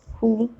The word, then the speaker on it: who: what when where but there are some wh words in which w is silent and which are these words who whom whose whoever okay again these are wh but we are not pronouncing w but instead we are pronouncing h and there are some